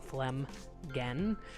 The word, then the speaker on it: Flemgan: for now cemeteries and you pronounce it phlegm again phlegm again River is what this